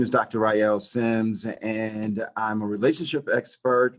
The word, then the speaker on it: Ryeal Simms: Tell the audience about your name, pronounce properly, and what you do. Yes, my name is Dr. Ryeal Simms, and I'm a relationship expert, relationship scientist, and